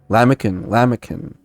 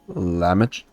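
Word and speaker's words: Lahmacun: Lamican. C in Turkish is pronounced J. Oh, okay, so it's lamach. Turkish is pronounced J or Ch. So lamagen.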